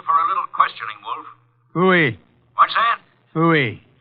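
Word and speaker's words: Pfui: Phooey. What's that? Phooey. It can be spelled in several ways. I spell it P-F-U-I.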